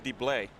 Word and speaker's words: Dybel: Rambo, is it pronounced Dybel? I just call him Deblay. You know, like Michael Bublé.